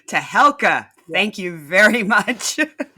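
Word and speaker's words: Tehelka: And off the top, please correct my pronunciation of India's weekly Nice to be here, Rivka, and it's Tahelka. Tahelka.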